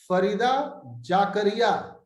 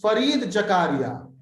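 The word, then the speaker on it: Fareed Zakaria: Farida Jakaria. Your pronunciation is a bit different, but let me see whether you have given the correct answer or wrong answer. Answer is Farid Jakaria. You improve your pronunciation, Satvik Sinha.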